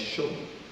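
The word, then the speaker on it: שוב: Ang pag-pronounce po sa kanya is show.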